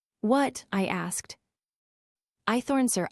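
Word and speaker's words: Hoythorne: My name's Eythorn. What? I asked. Ithorn, sir. Eythorn. Spell it.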